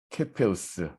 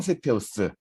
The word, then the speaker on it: 케페우스: 오각형 모양이 이디오피아의 왕 케페우스, 뭐 세페우스라고도 이야기하고 영어식으로 하면 세페우스. 근데 별자리 이름은 라틴어로 돼 있기 때문에 원어 발음으로 한다면 케페우스가 맞습니다.